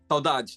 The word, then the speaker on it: saudade: Saudade. Saudade, yeah.